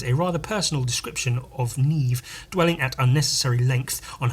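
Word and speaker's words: Niamh: love again Neeve slain ah Neeve I only know how to pronounce that Irish name all the others I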